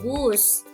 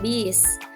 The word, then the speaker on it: bus: Kata baku bus, kita lebih sering mengucapkan bis.